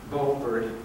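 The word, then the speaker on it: Beaufort: sales for Chuck Chi bord and cook Inland now in the bord SE or buer SE depending on how you pronounce it there could be one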